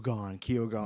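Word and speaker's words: Keoghan: of the emerald F the director saying it's Kone Kone so I'm sure they'll it's it's like uh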